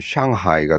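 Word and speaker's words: 上海: 상하이, 상하이면, 상하이면 우리말로는 상해거든요, 상해. 상해로 쓰든지. 상하이도 아니고 중국 발음으로 쓰려면 샹하이가 돼야 돼, 샹이 돼야 되는데, 그렇게 쓰는 것도 아니고.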